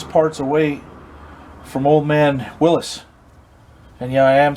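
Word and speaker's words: Willys: away from old man willis and yeah i am saying it right look it up on wikipedia that's how his name is pronounced not willie's i had to get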